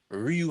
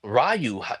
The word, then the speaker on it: Ryu: Like, say like his name is Ryu Hayabusa. Don't Rayu like, no, it's y'all had me saying it wrong.